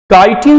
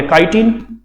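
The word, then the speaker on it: chitin: देखो काइटिन को हम प्रोनाउंसिएशन में और क्या बोल सकते हैं, चीटिन भी पढ़ सकते हैं या नहीं पढ़ सकते, ऑब्वियसली पढ़ सकते हैं, चीटिन भी कह सकते हैं।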